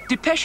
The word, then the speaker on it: Depeche: off the xn and we just kept the pronounced de peche I'm mode show just how much futurism as